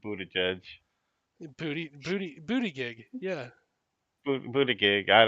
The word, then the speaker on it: Buttigieg: pronunciation, I believe, is supposed to be closer to booty after judge.